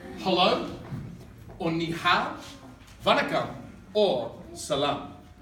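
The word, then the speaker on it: 你好: Ni hao. Everyone say ni hao.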